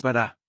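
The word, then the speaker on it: בָּרָא: A la segunda palabra es bará. Está en tiempo pasado, singular, masculino, y viene del verbo raíz para crear. El angulito a la izquierda de la segunda vocal es un acento en la última sílaba, lo que solo se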